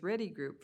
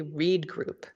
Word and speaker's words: Reed Group: Yes, so just to clarify, this is a no-cost extension of our agreement, and I pronounced it the same way you did, Commissioner Bell. It's actually Reed Group.